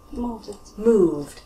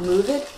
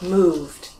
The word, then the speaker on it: moved: They're all voiced, so we add on a d sound, okay? We'll change the sentences. I move becomes I moved. Not moved, moved. Moved.